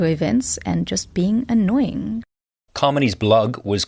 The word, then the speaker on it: Kamini: Kamini created a cheat code to help people pronounce her name, spelt Kamini, pronounced Kamini, like harmony.